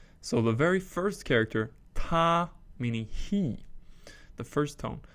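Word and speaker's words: 他: So ta, the male pronoun, meaning he, first tone, ta.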